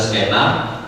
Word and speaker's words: skena: Jadi skena itu jadi potongan, mungkin paling sederhana dari istilah scene tadi diambil menjadi skena dengan pengucapan kita menggunakannya adalah skena, tapi skena itu secara